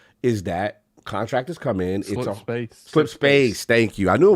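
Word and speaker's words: Slipspace: I know a lot of people, it's controversial, but the issues we hear with reference to Slipstream is that contractors come in. Slip space.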